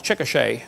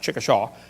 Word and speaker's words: Chickasha: 2005 textbook, and I pronounced it wrong, it's Chickasha, not Chickasha, Chickasha, Oklahoma.